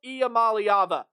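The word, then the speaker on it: Iamaleava: course by previewing this Tennessee volunteer offense Nico IAM malava that is how you say that last name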